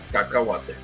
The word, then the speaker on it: Cacahuate: Cacahuate.